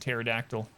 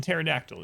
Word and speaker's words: pterodactyl: but p is in pterodactyl yeah you know pterodactyl has a silent p in the beginning for some stupid reason